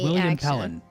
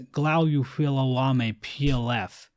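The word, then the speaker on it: William Pellen: Well, at one point I referred to William Pelen, one of the creators of Hollow Knight, but I accidentally pronounced his name as Glouilame PLF, which yeah, that was a stupid mistake on my part.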